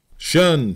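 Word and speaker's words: 'shun: resumed by the command shun, squad, abbreviated from the attention and pronounced shun.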